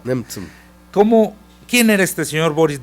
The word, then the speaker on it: Nemtsov: Ahora la prensa americana y la prensa mundial lo llama el líder opositor y se llama Boris ¿cómo se pronuncia? Nemtsov. Nemtsov.